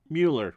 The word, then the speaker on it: Mueller: a 463 double play Mueller okay I think yeah the first one to pronounce it Miller would have been Bill Miller so Mueller I had that one right speaking of which